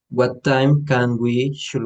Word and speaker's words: should: No me pronuncien la L. Should. Vas a Should pronunciar we? la D. Siempre la D.